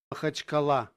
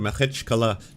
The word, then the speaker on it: Махачкала: rushed to the tarmac at the airport of Makakala? Alright, I gotta learn how to pronounce this. Hold on one sec. Ounce. Махачкала. Махачкала. Махачкала. Махачкала. Махачкала. Machachkala. At the airport of Makhachkala, the capital predominantly Muslim region, on Sunday night,